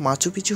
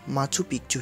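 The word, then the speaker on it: Machu Picchu: স্পেনীয় উচ্চারণে শহরটির নাম মাচুপিচু হলেও অনেকেই এর নাম উচ্চারণ করেন মাচু পিকচু হিসেবে, যার অর্থ পুরনো চূড়া।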